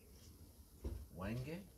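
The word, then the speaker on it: Hwange: Um, so after Wange, the H is silent, we travelled on to Victoria Falls.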